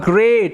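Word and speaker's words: great: একটি বনের মধ্যে বসবাস করতো হি ওয়াজ আ গ্রেট এখানে ই এর উচ্চারণটা না এ এর মত হয় এটা মাথায়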